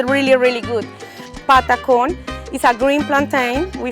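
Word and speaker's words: patacón: This is the amazing, delicious patacon, which Anna has told me how to pronounce correctly.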